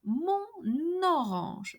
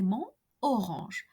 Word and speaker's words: mon orange: It's a N liaison. C'est mon orange, and not c'est mon orange. So the sound of the last letter of the word mon, N, is transferred to the second word orange, mon orange.